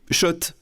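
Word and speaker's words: Schott: Oui, Shot. Et pas Scott, ça fait des années qu'on prononce mal la marque.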